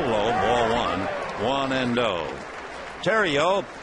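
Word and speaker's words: Theriot: ball one one and O Tero spells that name t h e r i o t and with that silent T you know he's got to be from Louisiana the strike one pitch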